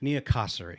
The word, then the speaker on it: Niakossary: nine different ways probably I'm gonna say niyaka sari nia kosari nia kosari yep okay it's all about those vowels oh yeah where do